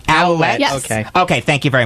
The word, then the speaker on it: Ouellet: Ole. Is that how it's pronounced? Ouellet.